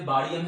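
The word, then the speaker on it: Barium: इसी तरह से बारियम है, इसको आगे पास मुख्तलिफ प्रोनाउंसिएशंस होते हैं, कोई बारियम बोलता है कोई बैरियम बोलता है, ठीक है जी।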